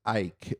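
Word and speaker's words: Icke: I've heard it icky I've heard it e like I have no idea how to say it that dude I I knew about him before I started anything and I still to this day don't know how to say his name yeah so from the the common consensus I've heard is Ike all right uh David Ike um okay we're going with that all right and so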